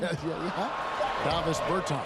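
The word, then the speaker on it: Dāvis Bertāns: Oh, well, now, at this point in my life, it's Davis Bertans. Is that how you say his name? Davis Bertans. Davis Bertans? Yeah, yes.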